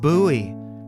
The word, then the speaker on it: Bowie: X, it's pronounced Bowie.